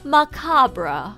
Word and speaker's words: macabre: heard of that before oh and it's it's pronounced Macabre wait macabre it's Macabre guys Macabre okay